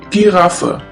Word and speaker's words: Giraffe: the German word is Giraffe. Giraffe, which means giraffe. As you can see, the word Giraffe is written exactly the same way as in English, but the pronunciation is completely different.